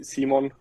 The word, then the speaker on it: Simon: Uh, in Austria you say Simon, but Simon, okay. it it's totally fine when you say Simon.